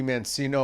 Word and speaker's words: Mancino: It used to be Mancino or Mancino. Right. Mancino, right. And it should be Mancini. Right. But that's the Italian way. You say it right. But my birth name is Mancino.